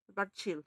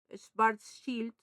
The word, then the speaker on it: Schwarzschild: Schwarzschild. Ah, entonces, porque Como el malo. estoy pronunciando como en el inglés, ¿verdad?